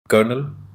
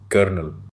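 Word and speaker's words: colonel: Slide में चार कॉमनली मिसप्रोनाउंस्ड words दिए गए हैं और उनका correct pronunciation comfortable कुंफ तिबेल schedule स्ेड्यूल schedule कर्नल कर्नल Wednesday Wednesday. ये एग्जांपल्स बताते हैं कि साइलेंट लेटर्स और साउंड रूल्स इंग्लिश में कितने डिफरेंट होते हैं।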